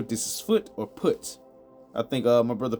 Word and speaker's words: Put: So you pronounce it like how you would P U T. Um, I think I even seen one version said Poot, but I'm going to say put cuz I